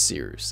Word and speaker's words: Cyrus: too My name is Cyrus. It’s spelled like “Cyrus,” pronounced like “See Rooster,” just take out the “ter” Thank you very much for watching and have a wonderful day!